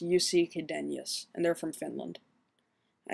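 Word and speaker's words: Jussi Chydenius: a group called rioton his name is pronounced yusi qadenius and they're from finland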